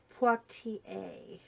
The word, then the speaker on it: Poitier: Sidney Poitier. Poitier. Let me pronounce it properly.